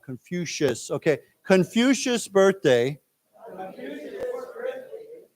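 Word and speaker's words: Confucius: the newly added Our Confucious birthday. Let's say it again. This is pronounced with a shh sound. Confucious.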